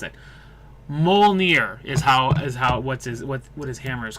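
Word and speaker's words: Mjölnir: Mjolnir is what his hammer is called. I didn't realize it actually had a name, but it's Mjolnir is how it's pronounced.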